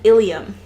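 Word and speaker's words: ileum: bone in your wrist ilium and ilium these aren't even pronounced differently um instead of an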